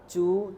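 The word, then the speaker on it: ちゃ: সো সাম স্টাইলে চা চু চো চি এর সাথে ইয়া এসে উচ্চারণটা হয়ে যাবে চা চি এর সাথে ইয়ো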